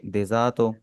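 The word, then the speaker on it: デザート: desert को आप बोलेंगे डेजातो ऊ यानी अगर आपने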